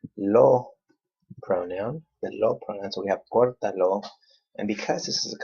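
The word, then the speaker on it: córtalo: these two together, and then we count third to the last syllable. 1, 2, 3. We put the accent right there. Okay, cortalo.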